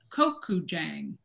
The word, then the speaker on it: gochujang: That's how when I looked it up, I certainly did not know how to pronounce it. they said gochujang.